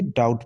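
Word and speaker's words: doubt: और दूसरे एग्जांपल है दी ओ यू बी टी डाउट इसे डी नहीं पढ़ेंगे डाउट पढ़ेंगे ठीक है बी यहां साइलेंट है की नहीं है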